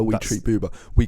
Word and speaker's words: Boobah: of how we treat BBA we call each other BBA we greet each other with BBA BBA BBA BBA RH with chuba that does rhyme with chuba um yeah we we